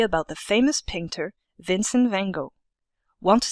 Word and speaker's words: Van Gogh: Our experience will be about the famous painter Vincent van Gogh. Want to sound fancy?